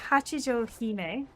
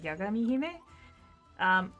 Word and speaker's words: Yagami Hime: So, like, when they released Hachijo Hime, who should be named Yagami Hime, that's the way it's supposed to be pronounced, is Yagami Hime.